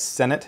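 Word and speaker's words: Cenat: first name is Kai I believe you pronounced his last name as Senate c-e-n-a-t and he decided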